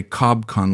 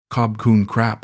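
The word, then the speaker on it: ขอบคุณครับ: "You say cob kun like robot," she said one afternoon, giggling. "Try again, more soft." "Cob kun crap," I repeated, and she clapped her hands.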